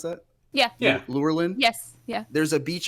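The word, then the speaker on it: Lurelin: the wild um near lurlin Village how you pronounce that yeah yeah lure Lynn yes yeah there's a Beach area and there's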